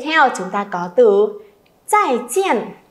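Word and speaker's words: 再见: À, không ai đọc là zài jiàn nhá.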